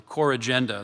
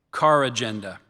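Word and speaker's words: corrigenda: There's one. So I gave you the the initial one, core agenda. There's also car agenda.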